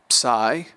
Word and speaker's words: psi: Psi or psi will be pronounced like the PS in laps, L-A-P-S, laps.